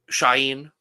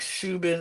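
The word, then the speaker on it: Shauhin: call that man something his name is I realized he put out a video because everyone was pronouncing his name wrong okay you don't pronounce the second H yes okay sh sh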